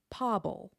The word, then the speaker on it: pobal: The root form of this word is pábal, ending with a broad consonant, just a plain old ul at the end.